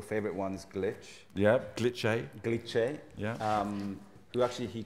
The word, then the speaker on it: Glitché: Yeah, talk to me about some of the apps, because you mentioned, is it Glitché or Glitch? It's Glitché. Glitché. It has an accent on the E.